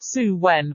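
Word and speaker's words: Samhain: back to the Celtic celebration of sound pronounced suwen when the veil between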